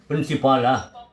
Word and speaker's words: principal: பிரின்சிபாலா? சரி, இது ரெண்டுமே ஒரே உச்சரிப்பு தான், சேம் ப்ரொனன்சியேஷன்.